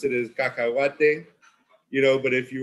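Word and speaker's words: cacahuate: you know which is now you know we pronounce it as kakawat you know but if you were to take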